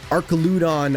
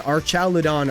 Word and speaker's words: Archaludon: We even did, like, how do you pronounce Archaludon? Archaludon, Archaludon, Archaludon, Archaludon.